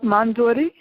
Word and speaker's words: Mandodari: Mandodari?